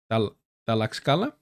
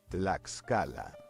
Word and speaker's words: Tlaxcala: The repression of protests, such as the one that occurred in Tlaxcala, we're doing the X like the X, like the ch.